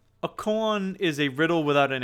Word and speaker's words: koan: so they can deliver a con i think that's how it's pronounced a koan is a riddle without